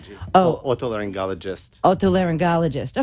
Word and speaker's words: otolaryngologist: the learning ecology Oh what they learned ologists otolaryngologist okay it's not so hard once you hear